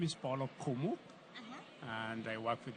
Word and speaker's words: Okumu: Okay, can you put me before your name so I don't misspell when I pronounce it? Okay. So my name is Paul Okumu, Uh-huh.